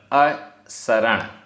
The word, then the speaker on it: असरण: यहाँ प्राकृत में स एक ही होता है, दंत सकार। जब हम हिंदी पे आते हैं तो हमें शरण, शक्कर वाला मिल जाता है, लेकिन यहाँ पर असरण उच्चारण में हमें ध्यान देना पड़ेगा।